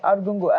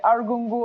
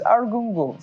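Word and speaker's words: Argungu: Palace uh of arungu I just learned how to pronounce that properly this morning arungu and if I'm still not pronouncing it right I think those good luck to them those who are from there can call in and say that still know how to pronounce it but I used to say aru and I was told know is arungu so that's the the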